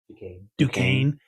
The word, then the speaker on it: Duquesne: After watching all these games, I mean, yeah, we, like he said, how do you pronounce that school's name? Duquesne.